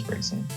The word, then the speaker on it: Braixen: It is Braixen. I will probably continue to say Braxian, just out of habits.